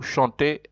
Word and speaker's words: chante: Whether there's an E or an ES, you just say chante. You pronounce the T because there's an E. And then you have nous chantons et vous chantez, and then il chante.